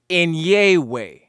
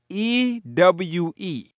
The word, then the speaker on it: Enyewe: just previously stated, Kemetu, and then that NIW is properly pronounced Enyewe. Enyewe.